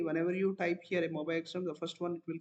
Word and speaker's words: MobaXterm: MobaXterm, X Xterm. MobaXterm is pronunciation.